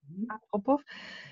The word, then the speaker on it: Antropov: Anja Antropow, ist das richtig ausgesprochen? Antropow.